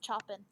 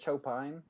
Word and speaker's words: Chopin: very it has that like constant rhythm it's pronounced choppin oh yeah i'm sorry mr choppin or is it is it chopin it's difficult to me he's been dead so